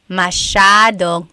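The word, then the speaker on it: masyadong: Mashadong means a lot. So the s ya is a sha sound.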